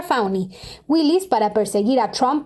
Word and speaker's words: Fani: un sentido contratado por Fanny se pronuncia fauni Willis para perseguir a